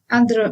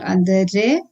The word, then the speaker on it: andere: Moving on, if E or R is at the end of any word, it has to be pronounced as A, like in andere. Andere means others, so it is not andere, it is andere.